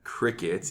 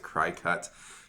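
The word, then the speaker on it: Cricut: things first you started your new job at crickets even though it's spelled CRI c UT that would pronounce it cry cut but anyway cricket how is it how are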